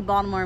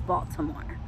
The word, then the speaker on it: Baltimore: And yes, I say Baltimore with a D, not a T. Because that's just me. Now, Mike pronounces it with a T. He goes, it's Baltimore.